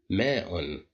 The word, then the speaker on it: ماء: ماء. ماء. ماء. Here we pronounced the hamza as a.